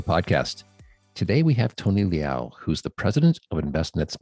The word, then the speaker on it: Leal: that when when um when you grow up in north carolina instead of saying liao they say leo um so it's a